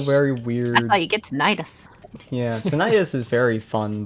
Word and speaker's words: tinnitus: see the ringing my tetanus is now all right yeah that's that's ears why do you say it like that uh properly tinnitus yeah I thought